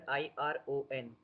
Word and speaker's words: iron: What's the pronunciation of the word IRON? Iron. Because after R, you have a vowel sound.